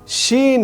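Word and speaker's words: ش: অর্থাৎ এটা হচ্ছে সিন, এটাও যদি নোক্তা না ধরি তাহলে সিন হচ্ছে, নোক্তা দিলে শিন হবে।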